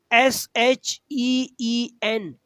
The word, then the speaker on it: sheen: That will SHEEN. Sheen. Some difference. H is 3 dots. H. Sheen. SHEEN. SHEEN with dots.